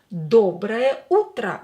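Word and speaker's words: доброе утро: is a yay is not stressed as well or is not stressed we'll pronounce it as a dobre uttra good morning or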